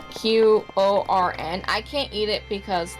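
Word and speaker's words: Quorn: It's corn. It's spelled with Q. It's Qorn.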